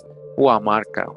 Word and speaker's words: Guamarca: Alright, so it says, Lucy unabridged edition, the Spanish wrote it Guamarca, Guamarca, Gumarca, and pronounced the G, which does not exist with natives, like an H, so Huamarca, Huamarca, which gives us a